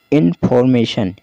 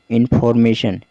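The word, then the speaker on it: information: इसके बाद है इन्फॉर्मेशन। इन्फॉर्मेशन जिसमें देखिए थोड़ा सा आर साइलेंट रहता है, इन्फॉर्मेशन कहा जाता है, तो आप ध्यान दीजिएगा।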